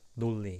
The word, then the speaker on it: 논리: 논리, but it can be sounds like 논리 usually. 논리. It's pronounced this way.